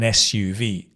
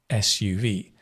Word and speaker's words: SUV: So we say an SUV. You say a sport utility vehicle, but an SUV, because S is like, it begins with a vowel sound.